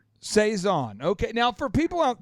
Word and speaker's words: Saizan: last name it is seison okay it is a French last name so if you think in terms of a French accent H you should be able to figure it out so seon seon okay now for people